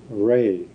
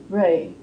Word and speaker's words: Rey: The name of this planet is Ray. Ray.